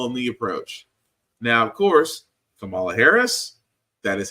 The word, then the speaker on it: Kamala Harris: can tell them the approach now of course Kamala Harris that is how you pronounce her name which is surprising to me